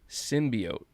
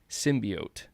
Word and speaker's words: symbiote: wrong this whole time symbiote like oatmeal appreciate that man um